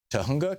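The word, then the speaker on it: Tujunga: Gail in Tahunga, California.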